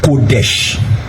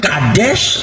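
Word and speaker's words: קֹדֶשׁ: Ça veut dire, le mot hébreu employé là veut dire Kodesh. Kodesh. Amen. Kodesh. Dis avec moi Kodesh. Alors, Kodesh ou Kadesh, ça se prononce comme ça aussi, Kodesh, Kadesh ou Kadash.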